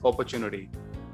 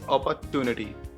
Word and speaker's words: opportunity: of this word, and the pronunciation is opportunity, but few people say it's an opportunity. Okay, opportunity, so they use the word ta. They don't say cha. Opportunity, they say opportunity.